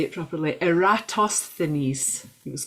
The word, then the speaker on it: Eratosthenes: Eratosthenes, he was called. Eratosthenes.